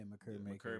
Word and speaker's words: Makur Maker: Is it Makur Maker? Yeah, Makur Maker. Makur Maker. I didn't want to say it wrong.